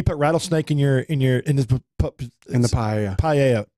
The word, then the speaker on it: paella: Paella. Pie. It's called paella. Paella. Okay. That's how it's pronounced.